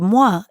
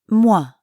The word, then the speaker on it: moi: means excuse me and the sound Moi is similar to the beginning sound in toilette TWA mwah mwah excuse me excuse me